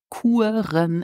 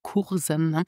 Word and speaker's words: Kuren: So this means that now I'm learning with online courses and pronounce courses in Luxembourgish Kuren and not Kursen. Donc Kuren.